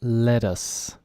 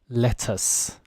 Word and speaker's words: lettuce: of at the beginning the girl said let us and this is a very American way of pronouncing the tease very soft lettuce I do it myself whereas a UK person could say let us the stronger T I don't know if